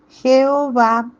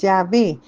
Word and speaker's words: Yahvé: nombre de Yahvé y Jehová en otros. La pronunciación más antigua es Yahvé, por eso es la que se utiliza en nuestra iglesia.